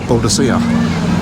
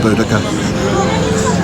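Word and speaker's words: Boudica: Uh well I have to say when I was a kid um her name was they just um pronounced it bodisa but then the linguists got involved and they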